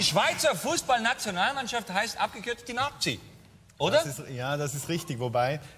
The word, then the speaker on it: Nati: Also, die Schweizer Fußballnationalmannschaft heißt abgekürzt die Nazi. Oder? Das ist richtig. Wobei, es wird nicht mit Z geschrieben, es wird Z ausgesprochen.